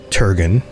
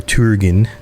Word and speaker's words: Turgon: And when you think of the city of Gondolin, you need to think about Turgon or Turgin, if I'm going to pronounce it correctly.